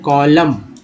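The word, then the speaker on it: column: स्तंभ को बोलते हैं कॉलम, ठीक है, N जो है साइलेंट हो गया यहाँ पर, कॉलम।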